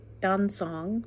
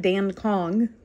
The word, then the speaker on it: Dan Cong: i'm saying that right don song maybe uh and it's not dan kong like it looks so now when people